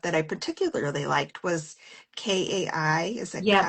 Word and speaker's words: Kai: I I don't know how to spell it, but one I picked up that I particularly liked was K AI. Is it Kai?